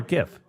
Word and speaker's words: GIF: GIF or GIF? If we're talking about the media, a GIF? Yeah, I think it is GIF. But I think the creator wanted it to be GIF. I go hard G on that bad boy. But it's also like I think it's just acceptable to do both.